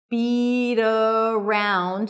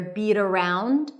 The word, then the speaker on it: beat around: And the pronunciation is beat around. So we have a flap T there, beat around, beat around.